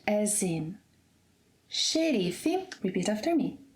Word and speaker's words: xerife: In Brazilian Portuguese, the letter X will sound like sh, as in shoes, whenever it is at the beginning of a word, as in xerife, repeat after me, xerife, xadrez, xarope, xícara, show.